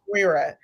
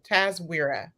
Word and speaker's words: TASWIRA: TASWIRA. I was trying to practice it. TASWIRA.